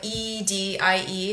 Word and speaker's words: Edie: is you spell it e d i e so it's like the word it's like the name Eddie but with one D only so Edie Eddie with 1 D Edie summer summer like the